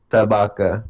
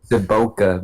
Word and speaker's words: Sabaka: for officially, it's pronounced Sabaka, but we just say Saboka because Yeah, I can't control it anymore.